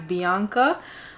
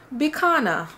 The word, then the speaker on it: Bicana: c a n a some people may think it's Bianca but it's not Bianca it's bana my name is bana it